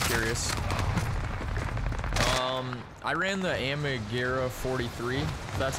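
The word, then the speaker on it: Armaguerra: but if you're curious um i ran the amigura 43 that's how you say it uh for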